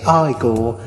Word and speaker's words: Igor: You pronounce it Igor.